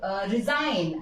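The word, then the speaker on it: resign: अगर हम लोग एग्जाम्पल लें, इट इज साइन, यहां हमारा जी साइलेंट है। अगर हम लोग रिजाइन, अगर हम लोगों ने ये लिया, यहां भी हमारा जी साइलेंट है।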